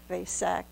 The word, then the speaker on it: Vesak: The highest moment of these three moons, of course, as I tried to mention, is the Wesak. Some people pronounce it Vesak festival, all one and the same.